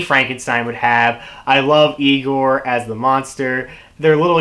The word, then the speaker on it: Igor: would have I love Igor as the monster their little exchange in the beginning when he's talking about how his name is Frederick Frankenstein and he goes like it's pronounced I Gor I love that exchange